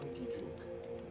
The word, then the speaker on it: Sanngijuq: I would pronounce it Sangijuk. Sangijuk. Mm-hmm. Pisutuk. Pisutuk. Sangijuk Pisutuk.